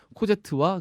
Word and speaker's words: 코제트: 엄마가 영혼이 찾아오고 기적처럼 꼬젯 그다음 마리우스가 자 꼬젯 고제니까 이상하다 코제로 합시다 한국 발음으로 코제트와 그 마리우스가 수지님이 계셔서 프랑스 발음으로 해주셨으면 참 좋았을 텐데 신꾸 생각나 왜 그래